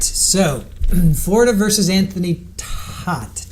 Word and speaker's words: Todt: So, Florida versus Anthony toot. Tot. Anthony Tote, I believe, is how they say it.